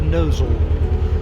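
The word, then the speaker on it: Gnosall: heading on towards the village of nozzle it's spelled with a G here we are in the village of nozzle just passing through the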